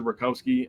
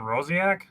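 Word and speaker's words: Rosiak: that guy's Twitter uh Todd rosi I think I'm saying that name wrong am I saying that name wrong talking about Todd rosak rosak sorry said Jim oari is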